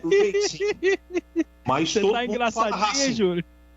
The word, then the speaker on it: Racing: O certo, a pronúncia é Racing.